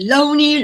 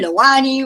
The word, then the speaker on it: LOANI: to make sure that it doesn't matter how you pronounce loani as long as you part of it you can Pro pronounce it Loney Lani whatever your heart desire is I think I believe